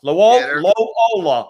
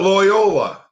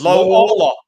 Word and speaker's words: Loyola: was following them around lo ola of illinois it's not loyola it's lola i call it lo ola almost like the uh y is silent so you go low hola and you made this